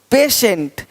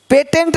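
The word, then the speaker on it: patient: देखो पेशेंट पेटेंट नहीं पेशेंट पेटेंट पेशेंट पेटेंट पेशेंट तो श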